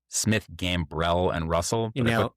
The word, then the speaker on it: Smith, Gambrell, and Russell: aviation litigation practice at, hopefully I'm going to say this right, Smith, Gambrell, and Russell. You nailed it. I put the emphasis on the right syllable.